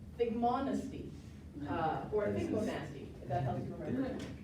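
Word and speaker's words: thigmonasty: It's not a tropism, but it's figmonesty, or figmonasty, if that helps you remember. But it's actually pronounced figmonesty, and I've got a little video to illustrate this, so hold on a second.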